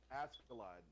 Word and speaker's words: Askeladd: Askeladd, that's how you say his name.